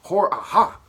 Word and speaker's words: Hor-Aha: of the first dynasty this guy's pronounced name is AHA hor-aha right IRA [ __